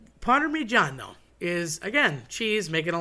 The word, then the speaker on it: Parmigiano: But people tend to say Parmesan. Well, that je sound is French, so just throw it out the window because a double G or a double Z or any kind of double consonant, a doppia, if you will, a double, in Italian is meant to be stressed and accented. So not changed, switched, and run away from.